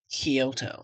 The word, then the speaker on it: Kyoto: Um actually it's pronounced Kyoto.